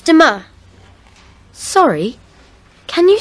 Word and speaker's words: demain: It's demain. Sorry, can you say that again, please? Yes, it's demain. How do you spell that?